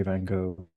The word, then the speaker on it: Van Gogh: Speaking of pronunciations, I know TM the actual Dutch pronunciation, you don't have to do it because the G is pronounced like a G in the Dutch language. So it's Van Gogh, but of course it sounds absurd, so you should just say Van Gogh.